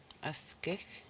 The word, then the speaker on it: askich: Askich, askich. So in this word there's three syllables. Askich. So S and K are the finals in the word.